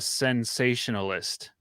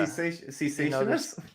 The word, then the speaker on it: cessationist: There's no N. Cessation. Like cease. Like it ceased. That's it's a good not like comment lasagna. Cessationist? You're adding a letter.